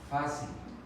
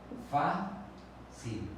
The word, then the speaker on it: fácil: Fácil. Fácil. La que suena con mayor intensidad es la penúltima sílaba.